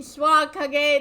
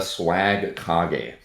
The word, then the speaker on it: Swagkage: It is I, aka, here for the Becoming a First Rate Duelist podcast featuring Swag Kage.